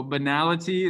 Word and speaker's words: banality: if you've never heard of this before so banality is how you pronounce that if you add a space it's